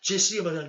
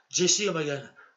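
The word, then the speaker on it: Jessy O'Magahn: me trouver sur mon blog, il faut spécifier Jesse O'Malley, tel que je vous le dis, là, à l'instant présent, tel que je vous dis que telle est l'orthographe. Je répète une dernière fois, Jesse O'Malley.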